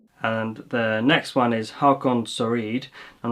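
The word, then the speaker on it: Håkon Søreide: And yeah, if you're watching this, Erin, my name is pronounced Hakon Soreide in plain neutral Norwegian. In my dialect, of course, because I live on the in Bergen I used to live on the Bergen on the west coast. We have inherited the German or French R sound, which means that in my dialect it's Hakon Soreide.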